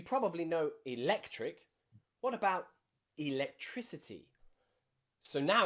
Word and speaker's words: electricity: so now it's changed now you'll see that in electricity we have an i after that c so it changes the pronunciation of the c it's not electricity it's electricity because that i following the c has changed the pronunciation of the letter c electricity we also have